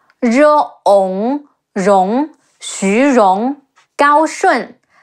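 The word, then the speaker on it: 高顺: Ong, Rong, Xu Rong, Gao Shun, Ge Ao, Gao, Shi Wu En, Shun, Gao Shun, Huang Fu Song, He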